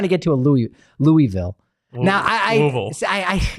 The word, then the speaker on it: Louisville: get used to but the difference between Louisville and Louisville Louisville it's it's it's minor yeah you have to say swallow your l i see I've never